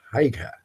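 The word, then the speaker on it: Haigha: His name is Haika. He pronounced it so as to rhyme with mare.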